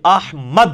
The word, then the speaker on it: احمد: احمد لفظ تو نہیں, یہ احمد ہے, میم کے اوپر زبر ہے.